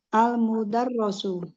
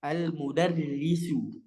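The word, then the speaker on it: المدرس: Terus adiku mumtaz almudarrasu. Almudar almudarrasu. Hm. Salah sedikit. Almudar. Almudarrasu. Almudarrisu. Oh iya. Almudarrisu.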